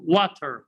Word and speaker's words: water: water why because of because t here is preceded by a vowel and followed by a vowel so t here will be pronounced the letter and add this letter